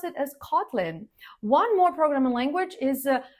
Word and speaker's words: Kotlin: Stress is on the first syllable, and it is also, just like Java, named after an island. So you pronounce it as Kotlin.